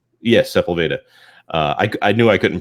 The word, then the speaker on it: Sepulveda: Yes, Sepulveda. I knew I couldn't pronounce it, so I didn't want to attempt it.